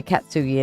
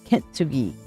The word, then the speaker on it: kintsugi: always say it right I always say katsugi and it's kintsugi kintsugi yes Kint not cat kid okay so Kint